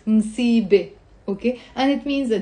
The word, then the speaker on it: مصيبة: The word مصيبة on its own has a ت مربوطة in the end, which is silent. مصيبة.